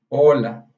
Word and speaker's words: hola: Primeiramente, oi, em espanhol, se traduz a hola. Oi e olá, em português, significa hola em espanhol. Mas é hola com H. Esse H daqui, ele você tem que escrever.